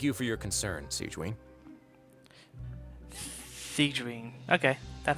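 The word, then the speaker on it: Sigewinne: Siegeween. Okay, that's how you pronounce it.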